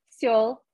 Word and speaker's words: Seoul: Seoul as in South Korea, although am I pronouncing it correctly? Seoul.